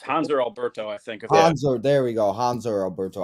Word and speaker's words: Hanser: Hanser, there we go. Hanser Alberto. I'm so bad at pronouncing names.